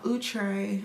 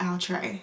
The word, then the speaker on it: Outre: viewing welcome today I'm installing a wig from utre yes utre apparently I've been pronouncing the name wrong I've heard it from a wig page that it is now utre and not I'll try as I've been saying for years so if